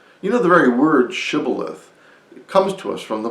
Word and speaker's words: shibboleth: pronounced the word shibboleth some said shibboleth just like i did and others said sybileth and it followed very